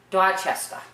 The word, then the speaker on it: Dorchester: Dorchester. No R's. Dorchester. It should be Dorchester, but we don't say it like that.